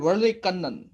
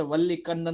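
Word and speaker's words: Vallikannan: देखिए this is a south Indian name. Okay, that's why pronunciation is somewhat different. ऐसे English की तरफ ऐसे वल्ली कन्नन नहीं बोल सकते. Okay, it इज वर्ली कन्नन.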